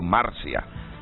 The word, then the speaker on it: Marcia: Pablo Noel Marcia Rodríguez dice no no lleva acento en la i Por eso digo Marcia no sé si es